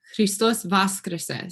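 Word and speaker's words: Христос васкрсе: And then in Serbian, though, the language of the people that's spoken out of the church, they'll say Christos Vaskrese. So the accent is on the first syllable, and that's really hard for me to learn.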